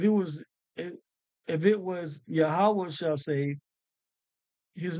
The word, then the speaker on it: Yahawah: pointed this out before in the Hebrew they have it pronounced says yahovah which is close yahovah is is closer than Jehovah okay but this is yahawah okay and once again